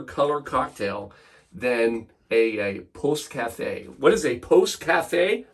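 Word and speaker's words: Pousse-café: I'm glad you asked Post Cafe and p o u SS e uh it's how you spell it I've been scared to death to say this word literally all day but it's Post Cafe you've been doing great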